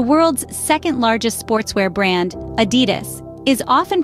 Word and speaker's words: Adidas: So the correct way to say it? Adidas, with emphasis on the first syllable. Remember, it's not Adidas nor Adidas, it's Adidas, crisp, clear, and confident.